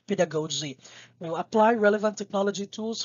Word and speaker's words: pedagogy: thrill is more on the pedagogy so you pronounce that as pedagogy that is not pedagogue zina that's pinagoji that